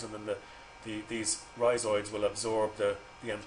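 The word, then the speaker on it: rhizoids: Um, let me just spell that for you. So, risoids. R H I Z O I Ds. That's risoids.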